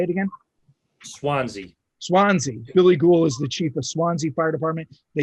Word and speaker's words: Swansea: I always mispronounce the name of the department, but it's like Swarzy. Is that what it's called, BJ? Billy Gould. Sorry, say it again. Swansea.